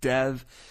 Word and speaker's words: Dev: in the English language Dev is pronounced exactly that it's pronounced Dev so therefore in this